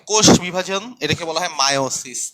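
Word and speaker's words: meiosis: একটু মনে রাখো ভালো মতো, এটার উচ্চারণ কিন্তু মায়োসিস, নট মিওসিস। কখনো মিওসিস বলবা না, এটার উচ্চারণ হচ্ছে মায়োসিস।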